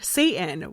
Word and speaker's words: Sathan: Additionally, the name of the familiar, Satan, which I will have like a PowerPoint, but it's spelled Sathan, which is how the devil